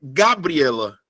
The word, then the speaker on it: Gabriela: Se eu pegar a palavra Gabriela, qual é a sílaba que eu falo mais forte? É Gabriela. É Gabriela. Ou é Gabriela? Quando eu falo Gabriela, é o E.